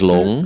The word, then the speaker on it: Loong: So that's when she started Loong Dim Sum. Loong or Long, I don't know how to pronounce it. So it's dragon. Dragon is long. Long.